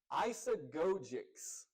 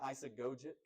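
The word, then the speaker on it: eisegesis: going to get wrong isogix I always want to say isogit joke. Now I can't say it wrong. Isogits with a t. It's isog with a cs.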